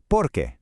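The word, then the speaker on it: porque: The question is porqu. two words accent on the e. The answer because is porqu. All one word, no accent. So it's a little rhythm.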